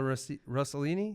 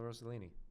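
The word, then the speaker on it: Rossellini: Isabella Russellini. Yeah. Or Isabella Roselini.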